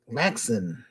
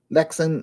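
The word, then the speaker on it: Lynx: Then came it's called Lexen. Anyway, I'mma spell it L Y NX. Lexen uh web browser came about.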